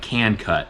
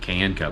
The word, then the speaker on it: Can Cut: You say it like that, like can cut. I always just pronouncing it can cut, but it's can cut, like a southerner would say the word can.